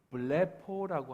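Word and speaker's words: βλέπω: 안식 후 첫날 막달라 마리아가 보고라고 하는 것은 이 보고라고 하는 단어는 밑에 제가 헬라를 적어놨는데 블레포라고 하는 단어입니다. 저렇게 블레포라고 읽어요.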